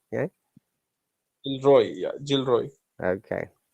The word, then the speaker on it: Gilroy: Gilly Anderson and Gillory. Gillory. Okay, one more time. Look at this word, Jill and Roy together. Jill Roy. Yeah. Gilroy.